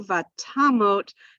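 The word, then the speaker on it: ותמות: word in verse 2, vatamot, the accent is on ta, and that kind of gives us a hint that maybe this is going to be that O sound, vatamot.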